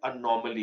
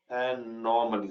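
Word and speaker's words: anomaly: अब एक वर्ड होता है अनॉमली का, एक वर्ड होता है अनॉमली, एनॉमली, सॉरी मैं अक्सर स्पेलिंग गलत कर देता हूं, माफ कीजिएगा।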